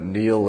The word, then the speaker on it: Niall: It was Neil Ferguson, and of Harvard, a historian, but Neil is spelled Niall, I think.